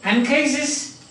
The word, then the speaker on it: Anchises: But when you see Anchises, A-N-C-H-I-S-E-S, Anchises, pronounced like this, Anchises, that is it, Anchises, there is an N here, Anchises.